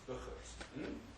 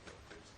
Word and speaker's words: Burgers: Burgers, actually correct pronunciation is Buchers, but I shall say Burgers.